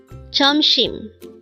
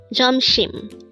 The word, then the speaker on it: 점심: JEOMSIM. JEOMSIM. This pronounced as a two-syllable word. The first syllable is jom, second syllable is shim. Pronounce it with me. JEOMSIM. JEOMSIM.